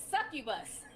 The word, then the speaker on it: succubus: oya dee sent five she says you can pronounce it it's succubus thank you so much for the super chat